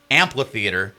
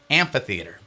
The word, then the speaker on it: amphitheater: So, I don't forget to say it correctly and remind me not to say amplitheater. It actually is at Venice Health Amphitheater is what it is.